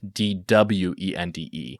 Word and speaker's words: dwende: This wraps up and it says Filipinos also believe in duende, which is spelled with a W. So instead of Duende, it's Dwende, which frequently live in